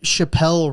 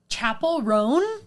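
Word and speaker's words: Chappell Roan: Chappelle. Chappelle. Okay. I You're believe offending all of the gay community. Right now. I believe that you said that, but every time I heard someone say her name, Mm-hmm. it was Chappelle. Well, Oh, you mean everyone Chapel is Roan? wrong.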